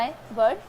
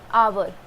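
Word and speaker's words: hour: आवर। ठीक है, जैसे OUR होता है, इसका भी प्रोनाउंसिएशन सेम होता है, आवर।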